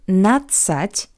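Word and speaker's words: надцать: So the ending notset is an analog of teen. Teen in Russian is not set. Please note that the letter D isn't hurt. It's really, really soft.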